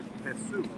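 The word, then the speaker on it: Jesús: Jesus. Yes. Jes, accent on the U.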